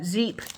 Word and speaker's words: Zeep: fabulously of course uh zeep toes in the sand shape I think it's pronounced zape coconut sweet vanilla and Beach